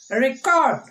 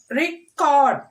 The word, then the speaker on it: record: Record. Record. Project. Project. Same words. When we are stressing on the first syllable, it is a noun. When we are stressing on the second syllable, it is a verb.